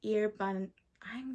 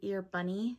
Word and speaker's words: Erebuni: It's Erebun. I'm going to butcher these names. It's Arbunny. Oh, I want to say Erebunny. It's Erebuni.